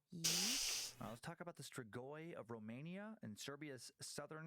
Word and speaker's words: Strigoi: the Strigoi, pronounced closer to Strigoi in Romania, but more commonly pronounced as Strigoi in English.